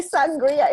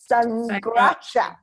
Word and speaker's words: Sanghrajka: And today we have with us Shamira I'm going to say Sangria. It is not Sangria. Shamira Sanghrajka. Welcome, Shamira.